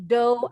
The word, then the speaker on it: dough: Bacanya GH-nya silent. Kalau dalam bahasa Inggris nih, huruf GH biasanya silent. Ada beberapa sih yang bunyinya berubah. Bukannya silent ya, tapi berubah bunyi. Nah, kalau ini bacanya do.